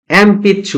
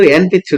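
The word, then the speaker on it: えんぴつ: হচ্ছে এমপিছু এম পিচ্ছু এটার উচ্চারণ কিন্তু এন পিছু না এইযে প এর আগে ন থাকলে ম উচ্চারণ হয়ে যায় এটা হচ্ছে যদিও রোমা যদি লেখা এন পিছু কিন্তু এটার উচ্চারণ হচছে এমপিছু এটা আপনারা স্পেলিং এন্ড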